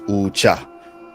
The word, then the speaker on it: Ucha: You made sure there's 2 syllables there.